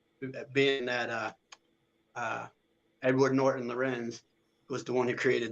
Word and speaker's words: Lorenz: They were pronouncing it rank, Hmm. but it's Lorenz.